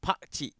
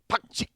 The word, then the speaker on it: Pakcik: Maybe it's the pronunciation. It's Pakcik. Pakcik.